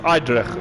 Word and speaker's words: Edrich: That is mostly probably pronounced Eidrich. Oh no, is it? Edrich, how do you pronounce your name correctly, sir? Oh, it's Edrich.